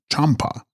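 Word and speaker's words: བྱམས་པ: And text, Byamspa, pronounced Champa, Sanskrit Maitreya, love the Buddha to come, who will reform mankind through the power of divine love.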